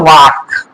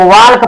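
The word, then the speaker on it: walk: की अंग्रेजी होती है वाक डब्लू ए एल के कई लोग वाल्क पढ़ेंगे वाल्क नहीं पढ़ा जाता इसको एल साइलेंट होता है इसमें जैसे बातचीत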